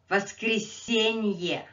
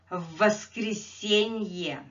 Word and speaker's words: воскресенье: Воскресенье. Воскресенье. Sunday. Воскресенье. Воскресенье. On Sunday. Again, this is four syllable word, so let's sit on it a little bit longer.